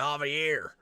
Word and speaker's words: Javier: He keeps mispronouncing Javier. His name is Javier.